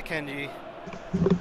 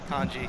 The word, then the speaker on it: Kanji: Juan loses it to Kenji. Kanji, excuse me, not Kenji.